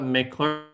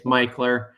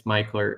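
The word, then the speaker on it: Mickler: So all my visitors, if you call it Mikler, people are going to know immediately you're not from here. So it's Meler. That's one way of gauging if you're a troop. Yeah, it's Meler.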